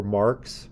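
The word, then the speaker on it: marque: cars we tend to refer to them as badges or marks but it's spelled m-a-r-q-u-e on here and I think your idea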